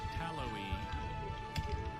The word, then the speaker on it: tallowy: Your third round word is tallowy. Tallowy. May I have any alternate pronunciations? There's just tallowy.